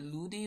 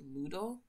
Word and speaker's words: Ludo: We call it Ludi, but I think it's actually called Ludo.